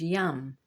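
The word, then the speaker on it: यं: And the pronunciation of that word in Sanskrit is yam.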